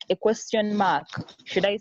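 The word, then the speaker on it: 吗: They use a particle which is called, it's pronounced ma, to put like a question mark at the end of the ni hao.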